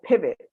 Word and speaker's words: Pivet: Michael Pratt is the founder of My Pivet. That's Pivot with ET. So the same way you pronounce it, that's how you spell it, right?